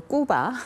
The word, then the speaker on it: 꾸바: 그 그 신호로 받아들여지는데이 북한식 발음으로 꾸바 그니까 우리가 보통 쿠바라 하는이 국가와의 우정은 어 그